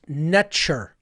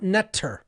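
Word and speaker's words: netjer: NTR was actually pronounced netcher, not netter, as many people will pronounce it. The actual pronunciation in ancient Cometian was netcher. Okay. Extremely close to the English pronunciation of nature.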